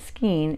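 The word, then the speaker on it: skein: people and crafts pretty much all my life ske of yarn yes and if somebody wants to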